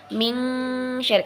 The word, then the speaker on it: min syarri: Jadi dia pengucapannya lidah kita sudah bersiap untuk menyebutkan huruf setelah nun mati ini. Jadi min syarri disamarkan, tetapi sedikit ada dengung, tapi nggak dengungnya nggak banyak ya.